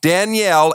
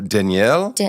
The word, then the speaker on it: Danielle: I know, I literally pronounce my own name wrong, but it's Danielle. But everyone's like, Danielle? I'm like, that's just... You say it like Danielle. I say it like Danielle. Like French almost.